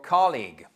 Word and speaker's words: colleague: For example, your colleague. OK, colleague. Vous voyez, l'apostrophe ici nous indique que nous avons une accentuation sur la première syllabe.